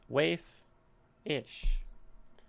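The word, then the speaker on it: waifish: Then we have wayfish. Wayfish. Waif-ish. Tends to be that if we stick ish on the end of something, it doesn't want to be stressed.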